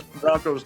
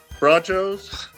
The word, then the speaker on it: Bronchos: Now you are initiated, because everybody's looked at the Bayless Broncos nickname and said, Bronchos? Yeah. Like nachos? But no, it's just, I don't know why they spell it that way, but it's just the Broncos.